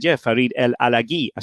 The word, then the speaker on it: El Alagui: And his name had always been pronounced Farid El Alagui, Alagui. Okay, but I had suspected this was wrong because he was French Moroccan. Right. And I'd suspected it was El Alagui.